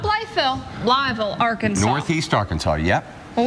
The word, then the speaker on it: Blytheville: Blytheville. Blytheville. Not Blytheville. Blytheville, Arkansas.